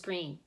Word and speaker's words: Greene: green that's green with a silent e at the end discovered that they were